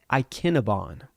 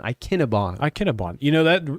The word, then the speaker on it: Ikinabon: Darren Ikinabon. Okay. Like Cinnabon, Ikinabon. That's a whole lot easier to say than how we were saying. Yeah. So Ikinabon is how we pronounce that from here on out.